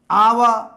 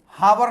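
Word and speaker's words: hour: आवा, हावर नहीं बोलेंगे, एच साइलेंट है यहां। आवा आ से हुआ, एन आवा।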